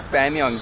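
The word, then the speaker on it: Pangong: Panyong, G is silent.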